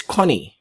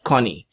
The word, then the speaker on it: Goni: But ang pronunciation po niyan is Connie. Okay, tandaan po ninyo yan. Hindi yan Goni ang pag-pronounce, but Connie.